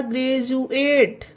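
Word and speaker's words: graduate: जी आर ए डी यू ए टी ई, यू ए टी आ गया तो होगा ग्रेजुएट। ग्रेजुएट।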